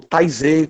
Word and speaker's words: Taizé: Ou Taizé, para quem não sabe pronunciar direito, pode ter lido já aquelas músicas bonitas de TZ.